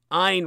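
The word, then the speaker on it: Ayn: Ein ran as in it rhymes with mine Ein rhymes with mine it's spelled a YN it's pronounced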